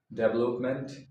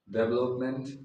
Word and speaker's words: development: Uh when any words end with this suffix m e n t we don't say meant we say m month.